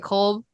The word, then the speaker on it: Kolb: um so the coach of the year was Stephanie white and then the executive of the year was Jonathan Kolb is how you say Kolb from New York which is not surprising I